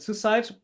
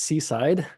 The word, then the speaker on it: SysIDE: IDE at the end but you call it suicide. Um yeah what actually is suicide? So first we we pronounce it as seaside.